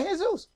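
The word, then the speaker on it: Jesús: j esus s in his name he say hey Zeus Zeus is the principal god of the heathens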